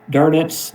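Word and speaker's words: Dönitz: And here is Admiral Carl Dernets is the way that he pronounced his last name.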